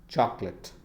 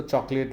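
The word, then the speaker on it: chocolate: चॉकलेट. काफ़ी सारे लोग इसको चॉकलेट बोलते हैं but that is again the miss pronunciation, the wrong pronunciation. A बार ऑफ चॉकलेट. चॉकलेट में लेट नहीं होता, चॉकलेट.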